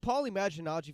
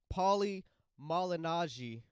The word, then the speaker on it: Paulie Malignaggi: they're making some great points about this the Paul imagine algae fight I'm sorry Paulie Malignaggi such a difficult thing for me to pronounce that fight yeah he's saying that the